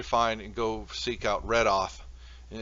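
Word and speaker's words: Reidoth: You need to find and go seek out Redoth. And it's spelled R-E-I. Redoth.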